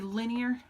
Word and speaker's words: linear: Because if we look at the word linear, we don't pronounce it like the word line, but the first 4 letters are still the same.